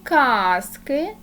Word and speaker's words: казки: покладемо ручку попрацюємо усно казка наголос на перший А немає казки наголос на перший а цікаві казки наголос на и що ми з вами